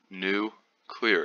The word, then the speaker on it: nuclear: let's just make sure we know how to pronounce this word right here nuclear it is written as n-u-c-l-e-a-r new clear it is not nuclear it's not nuclear is